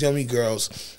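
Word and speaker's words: Yumii Gurlz: Yeah, and it's spelled Y-U-M-I-I, girls are spelled G-U-R-L-Z. You know what I'm saying? So it's Yummy Girls.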